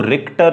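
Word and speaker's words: Richter: और ये किसने दिया, ये दिया था रिचटर नामक वैज्ञानिक ने। कई जगह आपको रिक्टर भी मिल जाएगा, ठीक है। क्या मिल जाएगा, रिक्टर भी मिल जाएगा, क्योंकि CH स्पेलिंग होती है, ठीक है।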